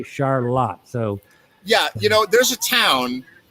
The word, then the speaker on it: Charlotte: It's spelled Charlotte, but up here they say Charlotte.